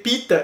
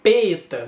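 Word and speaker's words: Peeta: Então, ao invés de ler Pita, eu lia Peta.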